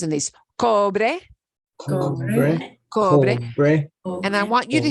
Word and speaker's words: cobre: And I want you to hear there is no such thing as a silent E at the end of word. English, we got a lot of silent E. Skate, late, great. No, not that great, but great that you walk on yeah. A slate. Yeah. Silent E in English. No such thing in Spanish. If you see the letter E, you pronounce it cobre.